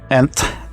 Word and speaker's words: NTH: from the seiko turtle first nth or ant as they want to pronounce it pronounce it is a